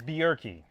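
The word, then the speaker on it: Bjerke: pronounce your last name for me uh it's bierki how do you spell it it's b j e r ke e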